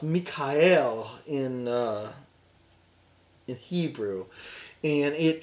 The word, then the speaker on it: Michael: at it his name Michael is is properly pronounced Mike al in in Hebrew and it translates to who